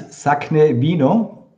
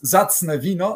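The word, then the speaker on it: Zacne Wino: It's Sakne Vino. Yes. I love it. I love you pronounce it. It's Zacne Vino, okay, in Polish.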